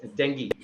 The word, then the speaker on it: dengue: How to pronounce that? It is dengue.